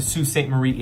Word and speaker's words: Sault Ste Marie: Yes, that is how that's pronounced. Not to be confused with the Sault Ste Marie in Michigan.